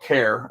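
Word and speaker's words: Vaquer: you've got Julia vure Vare I guess is how they're pronouncing Vare and then you got Cory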